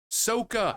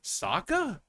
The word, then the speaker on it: Sokka: crap with like the Last Airbender, like just pronouncing the names wrong. Like, yeah, my name is Ong. It's like, you mean Ang? Soka. I mean Sokka?